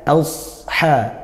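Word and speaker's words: أصحاب: itu lanjut biashhabibuka biashhabi hati-hati ini bukan Sin tapi SH maka bacanya Asha Asha nah baca tebal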